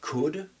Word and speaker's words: could: Et bien sûr le L qu'on veut prononcer alors que non, pas du tout. Donc, pour le dire correctement, I could, I should, I would. I could, I should, I would. Il n'y a pas de L du tout.